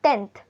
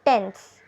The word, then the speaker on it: tenth: we we start from tenth and how do we spell it tenth not tense tenth and now in this whole